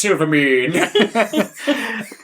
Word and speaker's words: Silvermane: It's pronounced Silvermane.